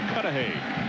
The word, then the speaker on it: Cudahy: Yesterday, he and Adrian instructed me on how to pronounce his hometown, which is Cudahy, Wisconsin.